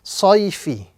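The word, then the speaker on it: صَيْفِ: So this word will be pronounced sayfi. Sayfi. So this is ya lean, the concept of ya lean must be pronounced gently and softly with no prolongation.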